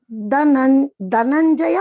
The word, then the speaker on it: Dhananjaya: How to pronounce this, ma'am? Mamichhaptun dhananjaya. Dhananjaya or Dhanai?